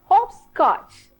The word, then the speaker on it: hopscotch: Wow, this is hopscotch. All of you, hopscotch. Repeat after me. Hopscotch. Again I tell you, when you pronounce the word hop, your lip also should be in round position.